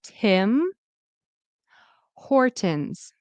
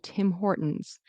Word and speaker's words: Tim Hortons: So Tim Hortons. Make sure that you are pronouncing the N and the S, which is like a Z.